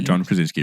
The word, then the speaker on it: Krasinski: Yes, that is how you say John Krasinski, Rui.